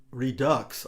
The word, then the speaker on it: redux: for the longest time i thought redux r-e-d-u-x was a french word and you would pronounce